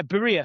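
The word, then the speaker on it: birria: But you made is it berea? Is that how you pronounce it? Ba pie. Yeah. B. Yeah, Bura.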